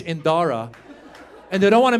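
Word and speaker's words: Dhara: to indianize it so she added a silent h after the D so now it's spelled d-h-a-r-a looks Indian is Iranian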